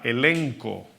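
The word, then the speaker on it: ἔλεγχος: La palabra convicción en la Biblia es la palabra griega elenco, ¿verdad? Se escribe como elencho o con J, elenjo, pero ¿verdad?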